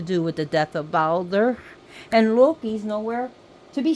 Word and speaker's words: Baldur: So as you can see how I'm pronouncing his name is Baldur. A soft E and a rolled R.